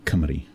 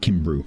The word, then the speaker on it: Cymru: The Welsh for Wales being Cymru. Cymraeg. Looks like Kimbru, but it's not pronounced like that. Because in Welsh, a U is a double I, so it's actually I at the end.